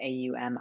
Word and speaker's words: Om: the sound Om, and typically pronounced in Sanskrit A-U-M, Aum, because it's said Om? To, say that again. Om, A-U-M. Oh, Om, Aum, Om. Om. Yeah, so typically spelt in the transliteration as A-U-M or O-M, because it's considered